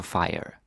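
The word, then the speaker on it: fyre: on there it is it's a fire so it rhymes with hygge it makes it easy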